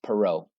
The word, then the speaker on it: Perrault: And Perrault not Perrault. Sorry, Miss McKinney. It's Perrault. She gets so mad when I mess up the French pronunciation.